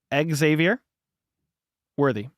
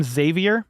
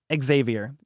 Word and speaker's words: Xavier Worthy: the kind words do do Americans pronounce Xavier worthy with two x's Exavier worthy Xavier worthy some people call him zavier but it's definitely Xavier you got to add the X to it that's per his mom